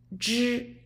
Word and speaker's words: 知: It's 知. It's not z. So not like zebra. It's like I told you before, like George.